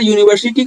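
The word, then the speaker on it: university: आवर लगाते हैं और ए यूनिवर्सिटी यहां पर यूनिवर्सिटी का उच्चारण यू से होता है जसे कि हम यूनिवर्सिटी बोलते हैं ना तो य यूनिवर्सिटी यू से हमारा आवाज आ रहा है तो यहां पर कांस्टेंट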